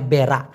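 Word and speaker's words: berak: জানি মল ত্যাগ করাকে মালয়েশিয়ান ভাষায় বলা হয় বেড়া বি আর এ কে উচ্চারণটা হবে মনে করেন আপনি টয়লেটে যাবেন হাগু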